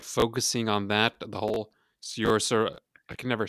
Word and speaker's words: Saoirse: it's Uh, an Irish name and you pronounce I it don't like inertia, Sersha.